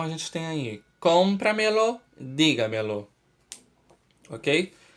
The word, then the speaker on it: dígamelo: Vamos pegar a palavra dígamelo. Lo como última sílaba, me como penúltima sílaba, ga como antepenúltima sílaba e di como anterior à antepenúltima sílaba. Então, repitam comigo. Dígamelo, dígamelo. Qual é a sílaba tônica? Di, que é a sílaba mais forte.